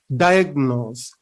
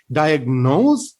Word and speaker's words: diagnose: diagnosed as some type of blood disorder diagnose diagnose get the correct pronunciation this time we have to state the first syllable not the second one we don't say diagnose no we have to say diagnose now we